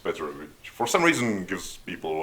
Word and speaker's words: Petr: it's spelled with a second B and it's pronounced better for some reason gives people a lot of